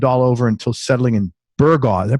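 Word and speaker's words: Burgaw: a brat lived all over until settling in burga did I pronounced that right yeah burga North Carolina he went to the University of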